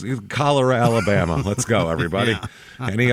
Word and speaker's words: Calera: and this is Cera Alabama how do you spell that CA l e r a kalera Alabama and almost like the disease it's kalera Alabama let's go everybody any other uh Oregon